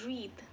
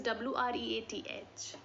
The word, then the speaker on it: wreath: It is called wreath, and spelling is WREATH, but pronounced as wreath.